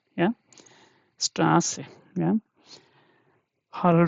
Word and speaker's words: Straße: Yeah, let's take another example, Straße. Yeah, Straße, we have already seen that. Beta I don't have, so I'm just writing double S for beta. Okay, so this should be read as Straße. Yeah, Straße.